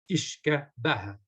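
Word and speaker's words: uisce beatha: And this was called Ishka Baha.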